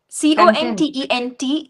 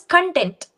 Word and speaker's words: content: C O N T E N T is the spelling. Okay, but it is pronounced in two ways and it has two different meanings.